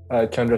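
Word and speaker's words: Tjondro: Chondro. The TJ is pronounced as CH. All right. Chondro.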